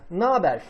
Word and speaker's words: naber: we omit E and H and add the N to A, like naber.